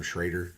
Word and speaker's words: Schroeder: the writtenhouse case Okay Schroeder but everybody calls him Schrader and apparently it's the actual pronunciation but there's an O not an A so I can't do